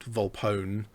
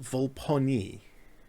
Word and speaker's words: Volpone: papa oscar november echo so it's the same spelling as bone phone scone so on and so forth you would expect that